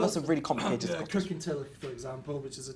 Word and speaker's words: Kirkintilloch: Kirkintilloch, for example, which is a town north of Glasgow. Auchtermuchty. It's getting the loch, the och.